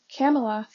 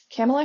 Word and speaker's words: Kamala: And she said it's like Pamela with a K. Camela Camela Harris.